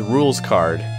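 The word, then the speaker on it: Rouxls Kaard: If you look at his name and pronounce it in French, it's rules card.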